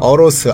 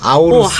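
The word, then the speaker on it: AORUS: 또 한 가지 불만은 뭐냐면 제품 브랜드 이 제품명들이 너무 발음하기가 어로스, 아우로스. 한국인들이 발음하기 좀 어려워요. 네. 어로스도 그렇고 아우로스야? 라고 읽을 수도 있고. 그래서 그냥 어로스라고 불러달라고 하더라고요. 그리고 에어로도 아에로지 여기가 어떻게 아에어로예요?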